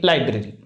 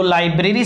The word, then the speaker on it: liber: हम बात करें तो लाइब्रेरी शब्द जो है वो अंग्रेजी के LIBER लाइबर, अंग्रेजी के LIBER लाइबर से बना है। इसको लिबर बोल सकते हैं, लिबर से बना है।